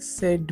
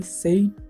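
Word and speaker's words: said: সেইড ওয়ার্ডটির উচ্চারণটি সম্পূর্ণই ভুল, এটি যদি সঠিকভাবে উচ্চারণ করতে যাই তো এটার উচ্চারণ হবে স্যাড, হি সেড মি, নট হি সেইড টু মি।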